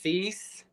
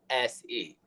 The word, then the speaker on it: Seese: My last name, it is pronounced Cease. It is Seese.